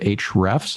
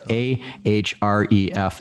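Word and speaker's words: Ahrefs: by interest a trip they always drop the a when they talk about it in their videos and stuff yeah well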